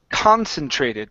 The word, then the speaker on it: concentrated: we have the word concentrated the stresses at the very beginning of the word one concentrated beam one